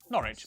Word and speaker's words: Norwich: stir Lester Wester gluster w at the start of the final syllable is silent Norwich Beric suuk e r